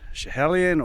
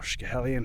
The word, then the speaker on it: Schiehallion: is Ben Nevis, uh Schiehallion or Schiehallion, however you want to pronounce it, that's a cracker.